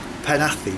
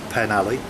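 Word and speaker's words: Penally: 520 which is going to take me to panathi Which is the way you pronounce it not pen alley panathi apparently uh back to the campsite it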